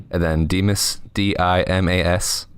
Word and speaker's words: Dimas: It's Demas, but it's spelled, like weird MY, not I. And then Demas, DIMAS, like Dimas.